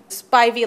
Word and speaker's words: Spivey: Spivey. Thank you. Spivey like ivy, and he said, actually, there's a tremendous amount of Spiveys in North Carolina, but nowhere else in your country.